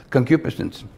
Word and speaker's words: concupiscence: then that's the red that's how you pronounce it concupiscence neither be idolatrous as